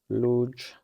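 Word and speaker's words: luge: Is that the correct pronunciation? Let's uh go to brave. So, luj sport.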